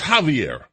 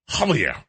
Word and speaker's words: Javier: Or even when I do know when it's Javier, I keep calling him Xavier. Because that's Xavier. Xavier. But it's Javier. Javier.